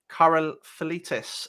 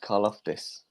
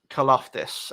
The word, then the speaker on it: Karlaftis: Number 7, George Karlaftis, edge from Purdue. That's the first one I've butchered there. I think that's pronounced Karlaftis. Karlaftis. Okay, we'll go with yours.